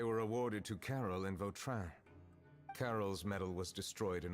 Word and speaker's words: Vautrin: Vautrin. Apparently this is how you Monsieur pronounce it.